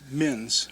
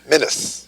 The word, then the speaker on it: Minnis: I said it wrong saying that. It's Minnis. Minnis.